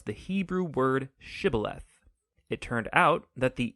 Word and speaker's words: shibboleth: and asked everybody who wanted to cross to pronounce the hebrew word shibboleth it turned out that the ephraimites had grown up pronouncing that word differently so instead of saying shibboleth they would say sybileth when that happened the gilinite guard would execute